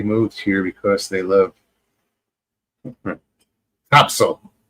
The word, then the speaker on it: Topsail: here because they love Topsail. That's how you pronounce it. Down there, over there, up Okay. there from here. Anybody else in America says, oh, that's Topsail. Nope, it's Topsail.